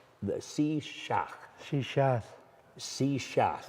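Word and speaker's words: shíshálh: the SE Shak sheath se shath you have to drag your tongue we've had an exciting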